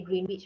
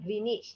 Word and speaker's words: Greenwich: always like to say Greenwich, right? But it's actually Greenwich. It's apparently the W is a silent W. You know the English they like silent W lah, silent U lah kan.